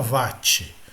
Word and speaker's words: watt: é o Watch o a pronúncia correta seria o ótimo mas em português português brasileiro todo mundo fala vati e o VAT simbolizado